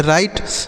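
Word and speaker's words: write: आर से र आई का उच्चारण आई। टी ई से ट इसे पढ़ेंगे। राइट मतलब क्या हो जाता है?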